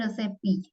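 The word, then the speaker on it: recipe: resep oh oh resep resep I bahasa Inggrisnya resepi kalau kamu pernah dengar istilah atau nama toko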